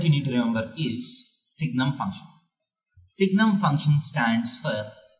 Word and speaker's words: Signum: is called Signum function we don't call it seinem function because sine is I'm definitely play with you know name has already been taken so we pronounce it as Signum function so what is the definition of signal